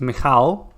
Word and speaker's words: Michał: Well, I think first it's Michał.